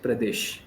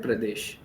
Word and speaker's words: Pradesh: The first is this Pradesh now now you said it right Pradesh. But when you spoke it in the beginning you said Uttar Pradesh. It was so at the end. So the pronunciation was incorrect. Okay. It is a sh pronunciation, right?